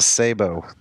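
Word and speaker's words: sabot: You pronounce it Sabo.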